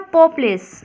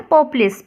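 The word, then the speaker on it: poples: आर ए सूरा नी को हम बोलते हैं पोपस क्या बोलते हैं पोपस पी ओ पी एल ई एस पोपस ये वर्डी क्या है ये कबाइटारी लेक्चर डालूंगी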